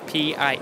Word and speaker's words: PIE: It's PIE. It's not apple pie.